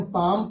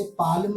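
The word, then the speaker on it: palm: PLM, पाम पढ़ेंगे, इसे पाल्म नहीं पढ़ेंगे।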